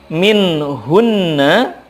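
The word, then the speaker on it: مِنْهُنَّ: Kemudian min hunna, ketika waqaf dibacanya min hun. Karena nun bertasydid merupakan gunnah, di sana gunnah dulu baru sukun.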